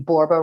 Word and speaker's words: Borba: My last name Borba rhymes with Zorba.